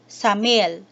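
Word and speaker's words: 삼일: Together, it is pronounced as samil.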